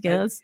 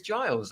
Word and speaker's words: Giles: And we have a very honorable guest here, Gils, and I hope I'm pronouncing your name right, Gils. It's Giles, actually, but you can call me anything you like.